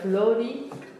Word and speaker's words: Florimont: The pronounce is Florimont.